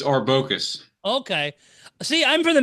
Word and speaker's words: Arbocus: now how did I screw that up it's orcus okay see I'm from the Midwest I would read it as arbody mispronounces it wrong it's all good and you've